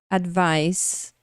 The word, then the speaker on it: advice: a pronúncia de vocês então Advice Advice não tenho som de s no final Então não é só